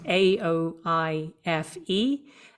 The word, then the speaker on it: Aoife: It's spelled A O I F E and it's pronounced Aoife and my surname is, O B R I E N.